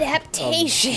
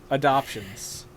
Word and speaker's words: adaptations: But we'll get into that Adaptations. Later, though. Adoptions. They're live-action adoptions now. Yep. Look, you can pronounce the letter A a number of ways.